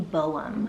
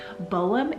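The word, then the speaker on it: Bohm: this next one is the name Boam. So again, another one that totally falls into the categories I was just naming. Boam is so handsome. So it's spelled B-O-H-M.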